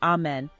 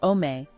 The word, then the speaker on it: Amen: Jews say the word Amen after blessings, but pronounce it in various ways such as Amen, Sephardi Israeli, or Omeh, Ashkenazi.